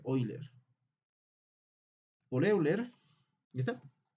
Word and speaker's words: Euler: O también, bueno, en alemán creo que se pronuncia Euler.